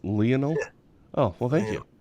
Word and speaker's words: Lionel: Amber, is that how you pronounce it? I said Lionel. It's Lionel.